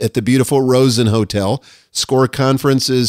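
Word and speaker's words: SCORRE: SCORE Conference is spelled S-C-O-R-R-E, SCORE Conference.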